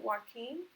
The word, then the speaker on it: Joaquin: we're used to and i think the way you pronounce that is actually joaquin okay that's just a very different pronunciation like like once all right we are at the end of module 6.